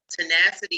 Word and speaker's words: Tonacity: Also on Instagram at Tenacity is how I say it, but it's spelled Tona City, TONACITY.